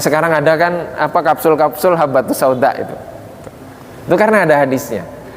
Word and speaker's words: habbatus sauda: ada kan apa kapsulkaps habbatus sauda itu itu karena ada hadisnya lah ini ada yang salah baca bacanya hayyatus Sauda habbatun artinya biji hayyatun artinya ular Jadi yang bacanya Salah